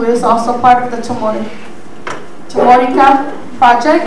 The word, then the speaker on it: Chamorrica: also part of the Chamorrica project, I think I put the stress in the other syllable for me, using my Chamorro stress rule, but Chamorrica, it will be on Tuesday,